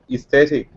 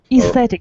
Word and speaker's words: aesthetic: a piering it's interesting how to read right athetic aesthetic yes you're right without a yes yes you're right so the pronunciation of this word should be remembered so it is a little bit difficult to pronounce good good so guys